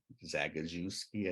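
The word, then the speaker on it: Zagajewski: Polish poet Adams yeah zagazewski I think is how you pronounce it and you know he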